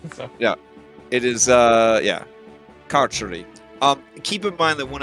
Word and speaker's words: Carceri: So, it is carceri.